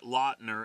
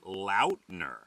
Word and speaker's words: Lautner: supposed to say it it's not Taylor Lautner it's Taylor Lautner Lautner yeah well we have